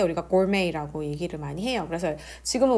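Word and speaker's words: gourmet: 그 다음에는 음식하고 관련된 단어들 우리가 뭐가 나오냐면 여기에서 고르메이라고 하는 표현이 나옵니다. 그래서 발음이 선생님 고르메트 아닌가요? 라고 할 수도 있는데 이거는 프랑스에서 생겨난 말이에요.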